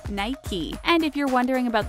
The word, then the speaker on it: Nike: as one syllable Mike but it's actually two syllables Nike and if you're wondering